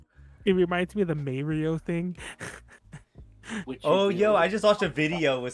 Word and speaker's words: Mario: a video recently where they were trying to defend the may mario pronunciation and i'm like bro what are you doing go listen to an italian person say that name they'll say mario mario you know i can't